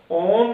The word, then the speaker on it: ओम: पहले ओ को लंबा लेना, मैं को छोटा लेना, दूसरे में ओ और मैं को लगभग बराबर लेना। तीसरे में ओ की ध्वनि को कम करके म की ध्वनि को बढ़ाना।